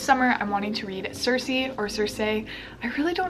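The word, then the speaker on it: Circe: up in greek mythology how do you go about pronouncing her name cersei sir c turn out cersei or kirk anyway so this is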